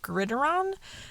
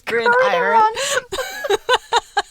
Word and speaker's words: gridiron: saw it written down i read it as like grideron and like what the is that like what is happening it seems like such a hard to pronounce word i'm like it's grid iron i remember being